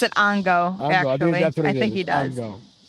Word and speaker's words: Ongo: It's so Ango? awesome. Gablogian. What is Oh, We were- I yeah, was- that's I was familiar. Gablogian. Yeah. Ango Gablogian. No, Dinah Schmitz is He might better. pronounce it Ongo, Ongo.